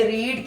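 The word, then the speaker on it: read: अब आपको पता है कि रीड की थर्ड फॉर्म रेड, बोलने में हम स्पेलिंग वही लिखते हैं लेकिन बोलने में उसको रेड बोलते हैं.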